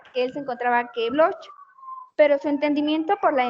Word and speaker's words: Bloch: Sería Marc Bloch, Bloch como si fuera G, Bloch, y Lucien Febvre.